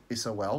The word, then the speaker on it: sol: about the sun is the latin word for sun is sol which would pronounce its soul just like your soul and we know that